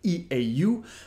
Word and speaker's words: eau: Well, in French, the word water is eau. Eau. I know it's a bit counterintuitive because it's written E-A-U, but it's pronounced eau.